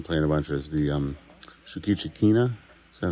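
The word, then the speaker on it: Shoukichi Kina: Two of the new things we've been playing a bunch is the Shukichikina. Is that how I pronounce it?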